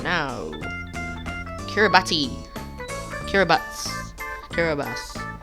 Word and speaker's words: Kiribati: now kiribati kiribati kiribati you can you can pronounce it in many ways but it's more generally subject to to say it care about or kiribati i'm choosing herobats because i feel it's better yes kiribati is now